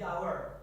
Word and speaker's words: hour: And yang contoh yang kedua, the hour. Kan di situ pakai h. Kenapa pakai the? Because cara bacanya bukan hour tapi hour.